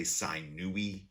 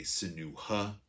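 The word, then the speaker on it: Sinuhe: Some people say Sinui, some people say Sinuha. For our purposes, I'm just going to call him Senui.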